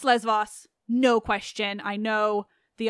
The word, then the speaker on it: Lesvos: the B sound and in modern Greek it's lesvos but I know that